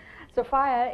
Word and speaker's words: Sophia: i met sophia and i'm saying sophia because that's how you say it in the east i learned that on my trip i'm from indiana so i'm very tragic in other ways but sophia is the proper way to say it and also her